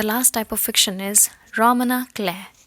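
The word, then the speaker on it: roman à clef: Moving on, the last type of fiction is Romana Clare. F is silent here.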